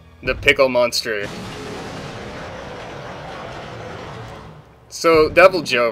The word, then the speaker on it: Deviljho: really hard on this cutscene of deviljho appearing deviljho the pickle monster so double Joe right he's one of the yes that's how you pronounce !